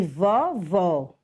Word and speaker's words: vovó: acento circunflexo de chapeuzinho ele é usado sobre as vogais a e e o para marcar que a pronúncia da vogal deve ser fechada um exemplo para classificar para definir a diferença da pronúncia são as palavras vovô e vovó vovô você vai usar um acento circunflexo vovó você vai usar o acento agudo quando siconflexo um lado